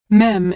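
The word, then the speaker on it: מם: Mem is pronounced M as in Mary.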